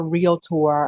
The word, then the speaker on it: realtor: biased because she's a realtor a fabulous realtor and it's two syllables not three i heard carrie mispronounce it she said realtor i was like no